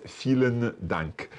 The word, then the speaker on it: Vielen Dank: sure well Sevilla you're you're almost right there as vielen dank that is how you say thank you very much so thank you feeling